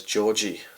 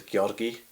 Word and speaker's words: Georgi: Like, for instance, in Bulgaria, is a guy called, we would say it as Georgi, but in Bulgaria the G is always hard, so his name is Georgi.